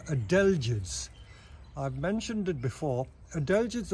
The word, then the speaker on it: adelgids: Again, while I'm here, I just noticed that there are adelgids on this pine.